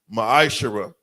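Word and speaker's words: מעשר: tithe which is a commandment the book of numbers 18 21 book of Malachi chapter 3 8-10 means 10th in the Hebrew is pronounced masher 10% of every penny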